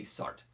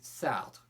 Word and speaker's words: Sartre: We will simply say Sartre. If you are a French speaker, you would say Sartre. Now, do we need to go to that and contort our mouth and go Sartre? No. So we'll just say Sartre, it's close enough.